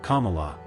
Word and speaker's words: Kamala: means lotus flower noting my name is pronounced Kamala like the punctuation mark